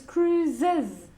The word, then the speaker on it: Cruise's: no Tom Cruise okay cruise finishes with an S so with the sex and genitive it's cruises you have to add an extra syllable and again we go back to the same sound that many spent Spanish people and then it have three we do the zoo sound Tom Cruise's okay like the bean